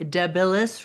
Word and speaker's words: Debilis: Today we are going to talk about your book one, Keepers of the Rock, The Deilis Rising. Is that how you pronounce it?